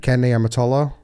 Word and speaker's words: Ken Niumatalolo: Ken Niumatalolo. There's no way on earth that the one name that you pronounce correctly is that guy's name.